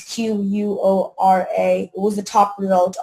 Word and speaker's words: Quora: I don't know how you pronounce that. Quora. It's Quora.